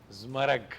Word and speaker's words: ज़मरक: कहते हैं जिस तरह मेरा नाम है उस तरह ज़मरक।